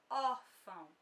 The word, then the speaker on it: órfão: Algumas pessoas acabam confundindo e considerando como se a sílaba tônica fosse a segunda, mas não, quando nós temos acento na palavra, o que prevalece vai ser a sílaba que é acentuada. Ela sim vai ser a sílaba tônica, a mais forte.